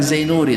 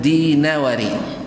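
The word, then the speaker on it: دينوري: jadi jadi Zain Nuri bacanya bukan Zainuri dan bukan dainuri tapi dinawari di Nawari nah seperti yang disebutkan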